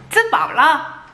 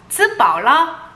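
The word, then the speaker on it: 吃饱了: 츠바올라. 발음을 위해서 한번 따라해보세요. 츠바올라.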